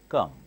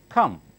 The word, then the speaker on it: come: them next come come if you notice carefully I'm not saying come it's not Telugu or Hindi good it's between girl and cup come come coming came come